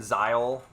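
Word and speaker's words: Zahel: I love it when zile which is how I've been pronouncing his name or that's how they that's how a Kramer pronounces it he's like brandishing this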